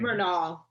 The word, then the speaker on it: Renaul: Murnau.